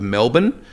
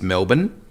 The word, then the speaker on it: Melbourne: It's about 6 hours drive northwest of Melbourne. Most people have heard, and for Americans, it's Melbourne. A lot of people say Melbourne.